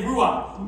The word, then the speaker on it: ruach: Everybody say ruach.